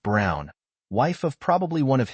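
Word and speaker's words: Braun: of the historical figure Eva Bron pronounced Brown wife of probably one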